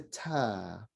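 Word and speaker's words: ت: It's like a T, but it's a very light T. So kind of daintily or gently said, it's a ta.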